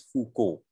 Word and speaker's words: Foucault: again he's french so all of this ault is silent i mean it's the island and so is the l so it's foucault right and it's michelle